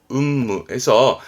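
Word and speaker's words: 雲霧: 발음은 음무해서 안개가 구름처럼 자욱한 거를 운무라 그러죠.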